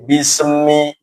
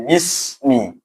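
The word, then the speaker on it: بسم: Tidak boleh bismi, tidak boleh, tapi bismi. Sin sendiri, mim sendiri. Sin harful lisan, mim huruf bibir ya, harfus syafatain.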